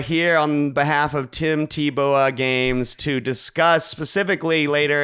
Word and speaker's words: Teebowah: Teebowah. Like shooting a bow. Teebowah.